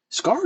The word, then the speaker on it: Scarr: I especially like the look of Scarr, which, by the way, Scarr is fair. Like the way the name is spelled, it's just Scarr.